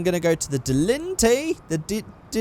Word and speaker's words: Dilettante: So I'm going to go to the Dilettante. That's how you say it.